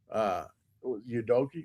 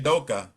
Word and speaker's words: Udoka: Udoki, what's his name? I can't never say his name for Houston. The Houston Rockets coach. Yume Udoka. Udoka, yeah. Yeah.